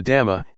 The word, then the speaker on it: dhamma: The dhamma, in Thai pronounced in the same way as the word tum, which means to do, refers to nature that exists by itself.